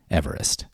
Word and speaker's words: Everest: These days, we pronounce his name Everest.